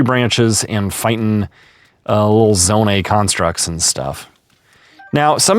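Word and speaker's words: Zonai: picking up tree branches and fighting uh little zone A constructs and stuff. Now, some of you may say that's pronounced zone I.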